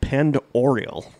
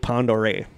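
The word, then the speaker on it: Pend Oreille: to say that because it looks like penned oriole but it's french yeah okay it's pronounced lake pond ore it's the fifth deepest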